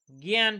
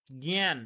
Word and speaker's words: জ্ঞান: জ্ঞান, পিৎফলনতে ইয়ে ইংয়ে পিৎফলনতে ওটা জ্ঞান বানানটা বলুন দেখি উচ্চারণটা কি হয়?